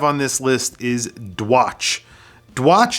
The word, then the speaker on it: Dwiss: Dwiss is D-Watch, but I think it is actually pronounced Dwiss.